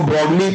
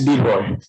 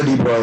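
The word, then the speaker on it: de Broglie: This lambda is known as डी, आप इसको ब्रॉडली पढ़ते हैं but basically it's डी ब्रॉय, ठीक है ना, वो प्रोनाउंसिएशन इसका डी ब्रॉय है।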